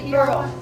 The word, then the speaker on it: Burrell: Burrell, is that the way you pronounce it? Burrell.